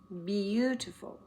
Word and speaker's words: beautiful: The view is beautiful. B-E-A-U-T-ful. Beautiful. So we get the U sound in there, but it takes a little bit of several letters to say it.